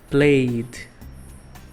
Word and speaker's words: played: presente played no passado apesar de na escrita ter e entre o y e o d não pronuncia ok a gente não fala playse só um som de IOK então aqui seguindo a